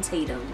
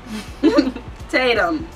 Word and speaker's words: Tatum: say his name since you miss okay Jason tetum JSON Tatum nice but his name the right way why